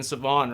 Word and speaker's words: Sevan: everyone called me that nobody could pronounce my name being savonne right so so everyone